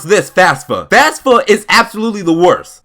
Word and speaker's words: FAFSA: Before I get into this one, I don't care how this is pronounced, I will always pronounce this FAFSA.